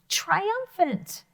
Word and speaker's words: triumphant: you think i am triumphant say that with me triumphant that's a great word triumphant let's spell that together because that has a ph sound in it that sounds like an f so it's t